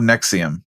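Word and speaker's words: NXIVM: not make that sound it's NX i v m I don't know how that spells Nexium but I'll take it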